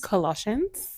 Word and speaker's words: Colossians: And then I also have, how do you pronounce this? Colossians. Colossians.